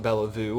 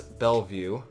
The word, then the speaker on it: Bellevue: Bellevue by the way that is how it's pronounced I looked it up it's not Bella vu or Bella of way it is Bellevue in Bellevue we are doing just fine we could probably